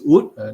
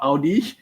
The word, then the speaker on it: Oode: This is Oode, not Oodi or Oodi or Audi, because there are many people who actually mispronounce it. So, Yeah, guys, it's the silent hmm, E.